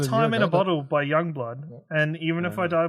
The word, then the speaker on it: Youngblood: It's Youngblood, not whatever the fuck Ashley said.